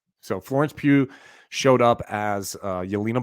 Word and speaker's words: Pugh: had florence and justin i've been struggling with how you pronounce her last name pew pew so florence pugh showed up as uh